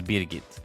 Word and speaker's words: Brigitte: First off, her name is Brigitte. That is how you would pronounce it in Sweden.